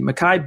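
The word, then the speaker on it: Mekhi: it's gonna be Makai is that how you pronounce it makan it's not Miki Makai Becton on the vine where'd he go hold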